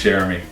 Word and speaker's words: Cherami: It's Cherami.